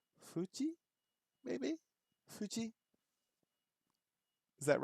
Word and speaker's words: Fuji: uh this one is what Japanese people usually pronounce f as an H yeah so Fuji that we would say with a hard F right Fuji it would be Fuji maybe Fuji is that